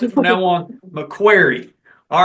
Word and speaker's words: McCreary: So that's how we're going to have to pronounce it from now on. McQuarrie.